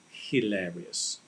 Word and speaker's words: hilarious: to make it clear for everybody it's it's hilarious because the h he hilarious is pronounced right hilarious so it's a hilarious comedian